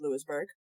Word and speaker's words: Louisburg: I am going to verify that it is pronounced Lewisburg North Carolina North Carolina yes and we are